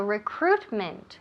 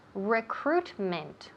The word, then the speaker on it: recruitment: wonderful great so recruitment recruitment recruitment all right so recruit recruit is that i there no so don't pay any attention to that eye it's almost uh completely silent it is silent so recruitment recruitment and finally we